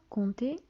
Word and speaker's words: compter: لاحظتوا compter كاين واحد بي ما كنطقوهاش.